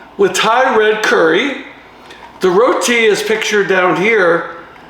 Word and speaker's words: roti: Tonight, we're going to try Trader Joe's roti with Thai red curry. The roti is pictured down here. It's the flaky layered flatbread from India. Roti, it's pronounced roti.